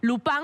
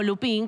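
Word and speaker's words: Lupin: Las primeras dos con cinco capítulos y la segunda con siete, que es lupan o lupín, como lo quieran pronunciar en argentino o en francés, que también tiene que ver con la historia de un robo.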